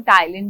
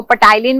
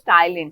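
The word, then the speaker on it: ptyalin: ठीक है, okay, P silent होता है इसमें, तो इसको हम टाइलिन भी बोलते हैं। ओके, तो इसको पटाइलिन मत बोल देना, ठीक है, प्रोनाउंसिएशन अपनी सही रखो। बहुत सारे बच्चे मैंने देखे बहुत गलत गलत बोलते हैं। सो इट इज टाइलिन।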